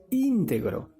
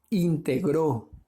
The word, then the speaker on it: íntegro: otra otro ejemplo es la palabra íntegro eso lo vuelve una palabra esdrújula verdad íntegro eso es una palabra grave disculpe íntegro verdad íntegro es una palabra grave íntegro es una palabra aguda